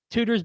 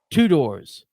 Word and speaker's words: Tudor's: First of all, it's even stupider on his part because it's not even spelled two doors. He's just whatever. Oh, it's spelled like tutors.